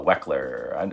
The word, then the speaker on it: Wechsler: hear people talk about the Wechsler or the wek ler I donno how exactly how to pronounce the name I think this Wechsler it is Wechsler yeah cuz there's its